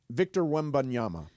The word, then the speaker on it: Victor Wembanyama: I wanted to ask you something about Victor Wembanyama.